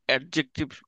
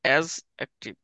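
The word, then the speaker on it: adjective: ঠিক আছে, যেমন হচ্ছে তোমাদের শিখেছিলাম অ্যাডজেক্টিভ আসল উচ্চারণ অ্যাজ অ্যাক্টিভ।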